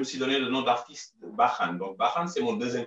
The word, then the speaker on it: Barhan: Et en français, le RH se lit R. Et du coup, c'est juste donc un changement d'orthographe, mais pas de prononciation. Donc, c'est toujours Bahan.